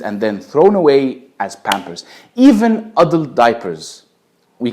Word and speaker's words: Pampers: Number three, Pampers. Of course, Egyptians do not pronounce it pampers, but we pronounce it bumbles.